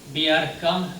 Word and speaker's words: Bjerkan: And as you know, no Americans can pronounce my name, Bjerkan, that will be beer can.